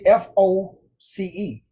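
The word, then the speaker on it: φῶς: It's phonetically Foce, but that's not how it's spelled. It's spelled Phos. Now, let's break this down because this is extremely important. G 5457. Phos. Phos. Phos.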